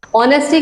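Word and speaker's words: honesty: अरे एक बात बताइए ऑनेस्टी की स्पेलिंग तो आपने सुनी होगी क्या होती है एसवाई किससे स्टार्ट हुई एच से वो तो हमारे वल्स में नहीं आती बट अगर ऑनेस्टी लिखोगे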